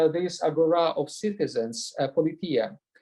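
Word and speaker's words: πολιτεία: science, because politia indeed, in the Raelian pronunciation it is politia, in the Erasmian it would be politeia, whatever you prefer.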